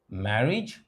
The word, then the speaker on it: marriage: first a in marriage please note that the second letter A is not pronounced a it is pronounced e so that what we have in actual pronunciation is marriage not marriage or marriage it's marriage but the first a